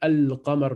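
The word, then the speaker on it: القمر: Donc, ça donne Ash-Shams. Et on rajoute une shedda sur le shin. Ash-Shams. Mais le lam, il ne se prononce pas. Donc là, dans le mot Al-Qamar, le lam se prononce. Et dans Ash-Shams, on passe directement dans la lettre après qui prend une shedda.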